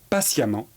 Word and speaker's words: patiemment: Pour former l'adverbe, on va remplacer ENT par amant qui s'écrit EMMENT. Apparent va donner apparemment. Patient va donner patiemment.